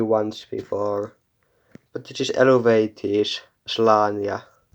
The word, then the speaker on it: Eluveitie: I think it's like Elevate if you want to pronounce it correctly, but here in Finland we say Eluveitie.